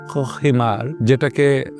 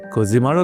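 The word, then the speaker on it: Cojímar: কিন্তু আজকে আমাদের গল্প কিউবার সেই ছোট্ট জেলে গ্রাম কোহিমার, যেটার বানান হচ্ছে COJIMAR, অর্থাৎ কোহিমার হিসেবে বাংলায় লেখা হয়েছে। অনেকে ভুল উচ্চারণে কোজিমারও লিখেছেন, আসলে কোহিমার, কিন্তু আমরা সেটাকে কোহিমার বলবো।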